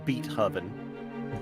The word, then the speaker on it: Beethoven: It's pronounced Beethoven.